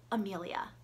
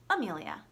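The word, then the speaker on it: Emilia: If you cannot hear a difference between the pronunciation of those two names, well, neither can I, and I'm really trying to say them differently, but it's just not there for me.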